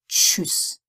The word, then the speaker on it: Tschüss: TSCH is like the TCH in English, as in which. Deutsch, Quatsch, Tschüss.